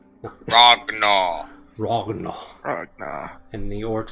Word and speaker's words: Ragnar: It's actually Ragnar. Ragnar.